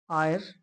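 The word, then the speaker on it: heir: Next question है ही is dash आयर टू the throne. अब इसमें देखो एच साइलेंट है। आयर में एच साइलेंट है और ई से इसका साउंड आएगा।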